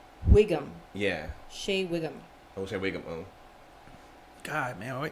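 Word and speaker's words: Shea Whigham: Shay Wigum.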